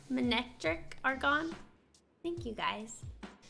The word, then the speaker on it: Manectric: Manectric are gone?